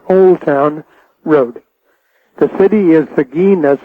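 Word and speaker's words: Seguin: The city is Sagin. That's spelled S E G U I N. Sagen, Texas.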